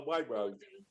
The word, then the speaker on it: Waitrose: The name of the shop is WAITROSE. Waitrose. That's how you say it.